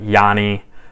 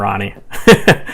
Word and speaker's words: Rani: So Ronnie, he's been around forever, and I know some people pronounce Ronnie differently. They'll say like Yanni, R-A-N-I. I'm calling him Ronnie.